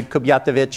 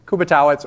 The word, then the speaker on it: Kubiatowicz: few years ago and everybody was pronouncing a kubat or something like that which is probably more correct uh in some distant past but I'm fourth generation so kubba totz or Kuby is fine uh I have a